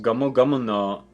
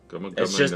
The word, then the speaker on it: Gomu Gomu no: Gomu gomu no jet pistol Gomu gomu no it's straight English with the like just slap that heaviest Japanese accent.